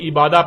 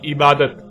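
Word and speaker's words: عبادة: اور جب عربی لہجے میں اس لفظ کو پڑھا جاتا ہے تو تیز ساکت ہو کر ہے کی آواز میں بدل جاتی ہے، یعنی اسے عبادہ پڑھا یا بولا جائے گا. عربی کا لفظ عبادہ جب اردو میں شامل ہوا تو اسے عربی کی بجائے اردو لہجے میں تے کے ساتھ بولا گیا اور بولا جاتا ہے، یعنی عبادت.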